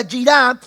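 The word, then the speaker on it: יראה: que se traduce de un término hebreo que se pronuncia yirá, y este significa o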